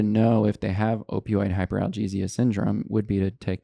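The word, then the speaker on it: hyperalgesia: I think um I'm going to butcher the term opioid induced hyperglazia hyperalesia hyperia is maybe at most 6%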